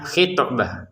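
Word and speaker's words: خطبة: Toknya dipantulkan khitbah. Nah, jangan sekedar khitbah ya.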